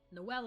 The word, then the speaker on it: Noel: No, it's no. Okay. As in the word bowl. Rhymes with bowl. Noelle is a girl name. So it's Noel.